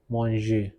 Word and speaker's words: manger: Today we are going to learn about the conjugation of the GER ending verbs such as manger, which means to eat. It is pronounced as manger.